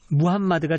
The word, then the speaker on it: 무함마드: 볼 수 있는데 에 무함마드가 정확하다 그래서 그렇게 이제 많이 원하기 때문에 저는 이제 무한 맛 이라고 발음을 합니다 예 근데 무함마드 알